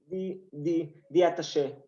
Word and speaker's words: The Attaché: Let's talk about l'attaché. Is that the pronunciation? L'attaché? The attaché. Yeah. The attaché. Okay, the attaché.